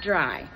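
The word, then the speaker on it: drei: I'll be back pared dry in german yes it said pronounced dry that's what it's said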